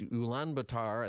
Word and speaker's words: Ulaanbaatar: It's Ulaanbaatar, I think is how you say it, in Mongolia.